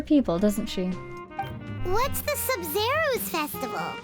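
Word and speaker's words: Sabzeruz: Oh, Sub-Zerus, that's how you say it.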